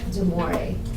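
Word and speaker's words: De Moivre: to take notes over it's pronounced deori theem I think it's close enough okay the V is kind of silent so it's deore but anyways um it's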